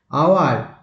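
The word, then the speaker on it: hour: আওয়ার, হয়ের উচ্চারণ কিন্তু এখানে নয়, সেই জন্য অ্যান আওয়ার, an honest man হয়।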